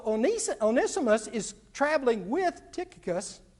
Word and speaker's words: Tychicus: onesimus is traveling with tychicus okay or titicus if that's the way you want to pronounce it he they're traveling with